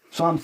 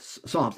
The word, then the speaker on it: Psalms: some people don't know Psalms in the Bible spilled PS a l m I know that's not how it sounds but the p is silent so it could throw